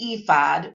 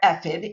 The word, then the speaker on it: ephod: He sacrificed a bull and a fattened calf wearing a linen ephod or ephid and it's pronounced both ways and it's like a linen apron.